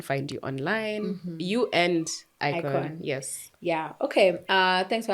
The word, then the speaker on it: IKOJN: Remember, IKOJN is IKOJN, guys, and the J is silent.